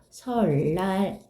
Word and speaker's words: 설날: 3번은 뭐라고 발음되죠? 설날 이렇게 발음되죠.